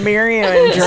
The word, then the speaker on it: Andretti: Mario Andretti? Mario. Definitely not that. It's Mario Andretti.